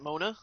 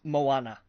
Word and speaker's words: Moana: Is it Mona? Moana.